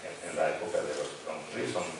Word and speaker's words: Grundrisse: de los Grundrisse, me dijeron que así se pronuncia, Grundrisse, en donde se recogen trabajos de varios académicos